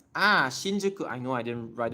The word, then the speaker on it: Shinjuku: So shinjuku is pure Chinese. It's Chinese pronunciation. The pronunciation of Japanese that's borrowed from China. So it's shinjuku.